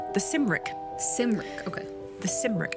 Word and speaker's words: Cymric: The Cymric. I hope that's how you say it. Otherwise, it's the Kimric, and I don't believe that. I don't believe in the Kimric. I believe it's the Cymric.